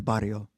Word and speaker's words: barrio: That's the barrio. Did I say that right? You got to roll your R with that. The barrio.